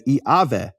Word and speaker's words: Yahweh: But Yahweh actually would be pronounced in certain periods of history of Greek as Iaveh.